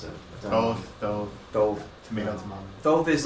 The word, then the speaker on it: Thoth: It can be used for divination, but it's really not esoteric as much as the Boda deck is, or the Thoth deck is super esoteric.